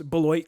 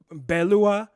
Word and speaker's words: Beloit: to know the truth we don't really pronounce pronounce Beloit correctly it's actually a French word Balu Balu WA and it's similarly like Detroit which is actually date wah and a lot of people don't know this obviously we butcher because we do the English pronunciation of it absolutely so the